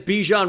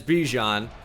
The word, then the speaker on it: Bijan: There is Bijan Robinson, which I watched an interview recently, and obviously I'm very familiar with him as a huge Texas fan.